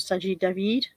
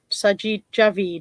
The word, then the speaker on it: Sajid Javid: have been scrapped confirmed sanji david have i pronounced him wrong sajid javid sorry sorry sajid i've mispronounced you i beg your pardon